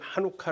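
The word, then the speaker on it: Hanukkah: 한번 읽어 보실래요 에 찬 오카 이스라엘 사람은 하누카 라고 있습니다 예 참혹한 하누카 씨가 묵음 일인지는 모르겠는데 1호 카 라고 그들은 있습니다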